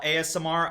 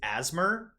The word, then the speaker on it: ASMR: response is violent yeah whenever I first saw ASMR I didn't know you were supposed to pronounce the letters individually so I always thought it was asthma I remember that it